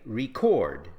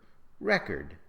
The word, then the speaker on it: record: For example, we say record as a verb, record as a noun, object as a verb, object as a noun, present as a verb, present as a noun.